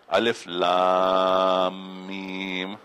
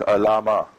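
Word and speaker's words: الم: this Alif Lam Mim, how do I know that this is pronounced Alif Lam Mim? If I just look at it on the page, it just looks like Alama.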